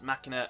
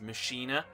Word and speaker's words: Machina: which back in the day I used to pronounce mackina as Machina because it spelled Machina if I'm being completely